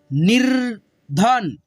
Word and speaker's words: निर्धन: निर्धन, निर्धन, ध से पहले आधा र का उच्चारण निर्धन।